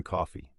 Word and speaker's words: Coffey: When Paul Edgecombe asks his name, Coffey answers, "John Coffey," like the drink, only not spelled the same.